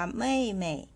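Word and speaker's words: 妹: คำ นี้ นะ คะ อ่าน ว่า ไม่ พินอิน ของ คำ ว่า ไม่ นะ คะ เสียง เอ็ม พยัญชนะ คือ ตัว M ค่ะ สระ อี กับ ไอ นะ คะ ออก เสียง เอย กับ อี นั่น เอง นะ คะ วรรณยุกต์ เสียง ที่ 4 วาง ไว้ บน ตัว E ค่ะ มา ผ่าน พร้อม เหล่าซือ นะ คะ ออก เสียง แค่ นี้ ค่ะ ไม่ ๆ แปล ว่า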